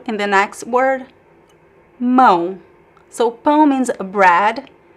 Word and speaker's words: mão: You could pretend there is the N at the end.